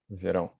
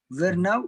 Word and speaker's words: verão: Verão. Now in verão. Verão. The January, janeiro. What? Vernão. Vernão or verão? Verão. Verão. Verão. Verão. Verão.